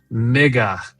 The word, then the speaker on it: MIGA: Mega, I'm assuming that's make Iran great again. Mega. That's M I G A.